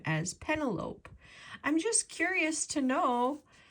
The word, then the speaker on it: Penelope: P-E-N-E-L-O-P-E. How do you pronounce this name? P-E-N-E-L-O-P-E. I pronounce it Penelope.